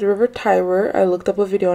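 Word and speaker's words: Tiber: was pronouncing the river tber yeah I'm pretty sure it's River Tyber I looked up a video on how to pronounce it I was saying tber but it's Tyber um I've only heard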